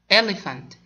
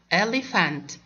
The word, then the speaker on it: elephant: Elephant. Take care, my dear, PH, we pronounce it fa. Elephant.